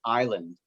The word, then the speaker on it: island: as a transcription and then of course it's also a silent letter as in the words island and so s is